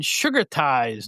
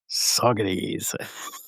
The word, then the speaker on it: Saugerties: all go to the brand new McDonald's in Sugar Ties, New York. Sugar Ties. And then later after he plays the song, and then he goes, I've been informed that it's pronounced Saugerties.